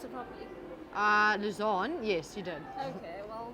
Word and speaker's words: Louzanne: Did I pronounce it properly? Louzanne, yes, you did.